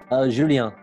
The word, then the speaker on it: Julien: Julien.